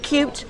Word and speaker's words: cute: there is a rule if you have au sound plus a consonant plus E or I it becomes you so for example with cute you've got a U and a consonant which is the T and an e so how are you